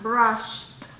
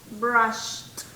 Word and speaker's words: brushed: Entonces, cuando tienen ustedes un sonido así, recuerden que cuando lo pronuncien en pasado va a ser con T, ¿verdad? Brushed. Brushed.